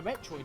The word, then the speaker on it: Metroid: Well, what I'm saying is like the way that Metroid is pronounced. Even in you were mentioning you wanted to do Super Metroid. As soon as you start up the game, the very first lines is, "The last Metroid is in captivity. The galaxy is at peace." So Metroid is the official pronunciation.